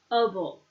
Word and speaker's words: comfortable: Now it's pronounced comfort. Sounds like comfort. Comfortable. Able. The E is silent. Comfortable. It's a hard word to pronounce. One more time. Comfortable. Now it's like kansahamnida is kansamnida when you hear it. Kind of gets squished together.